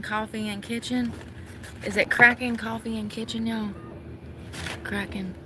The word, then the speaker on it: Kraken: I don't know how you pronounce this place. They're not from here. No, it's K R A K E N. Y'all, I don't speak English. Can somebody help me here? Karen, no.